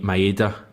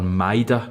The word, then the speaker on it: Maeda: way players play um i think maeda um or mida i think i've been told that that's how you pronounce it and i think he he